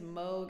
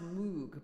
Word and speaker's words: Moog: Yeah, he's expecting his Moog. It looks like it's pronounced Moog, but it's Moog.